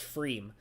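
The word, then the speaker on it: Pfriem: The P is silent, so it's pronounced Freem.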